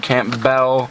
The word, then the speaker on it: Campbell: Campbell the gentleman Camp Bell a little guy I keep pronouncing your name wrong it's Camp Bell um so uh